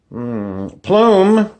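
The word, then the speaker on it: Plame: does it mean valerie plume plume sounds like a feather a feather in your cap plume rhymes with flume which is where you go down in the water park down the flume valerie plume was the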